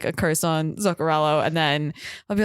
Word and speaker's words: Zuccarello: You were close. It ends in an O, not an I. Zuccarello. Yeah, there you go. Have a fun time and put like a curse on Zuccarello, and then I'll be